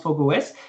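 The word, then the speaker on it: Fog05: Fog 05, ça s'écrit, mais ça se prononce FogOS, et c'est développé sur Paris par AD-Link Technology.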